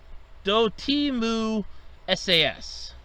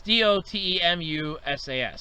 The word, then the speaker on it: Dotemu: East games, and I know I'm going to mispronounce this last one, Dotimu SAS. It's Dotemu SAS, so also that one.